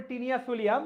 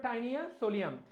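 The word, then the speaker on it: Taenia solium: করতে হবে তানিয়া সোলিয়াম যদিও আমরা উচ্চারণ করি টিনিয়া সোলিয়াম বাট তোমাকে মনে রাখার জন্য যদিও উচ্চারণটা টাইনিয়া সোলিয়াম দেখো টাইনিয়া সোলিয়াম ফিতা কে পড়ে মেয়েটার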